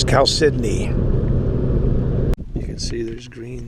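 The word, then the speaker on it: chalcedony: blue wagon blue again we've been saying calcidone but we found out the proper pronunciation is cal sydney you can see there's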